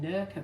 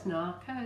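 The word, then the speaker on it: nacre: And this is shell, I always say Nurka, but it's not, it's Narca, is it?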